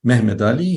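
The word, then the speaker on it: Mehmed Ali: is Muhammad Ali or to use the Turkish pronunciation of his name because he was an ethnic Turk mhmed Ali who comes from an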